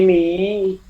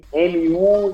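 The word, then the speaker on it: μ: Então, quando se usa aí o mi, por exemplo, com u e o ni com u, é o u alemão. Não é o nosso u, por isso que a pronúncia é de i. Por isso que fica ni ao invés de nu.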